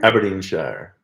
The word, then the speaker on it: Aberdeenshire: Aberdeenshire? Aberdeenshire.